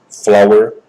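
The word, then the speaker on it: FLWOR: Bom, para fazer essa manipulação, ele usa expressões flower, pronúncia flor em inglês.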